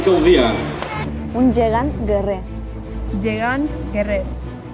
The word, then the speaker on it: guerrer: Llegan Guerrer. En guerrer no pronuncias la última R.